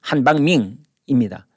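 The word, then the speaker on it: 韩方明: 차하울 학회 회장을 만났습니다 이 한방명 그 중국 발음으로 한방민 씽아이밍 할 때 그 밍 한방밍입니다 이 사람은 전국 인민정치협상회의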